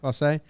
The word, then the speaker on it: Clase: He was also a 2-strike, and in that at bat, is it Clase? Is that how you say it? Yeah. Clase.